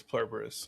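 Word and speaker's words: Pluribus: I'd put Plurberus over a couple of those things, or however you pronounce it. It's Plurberus.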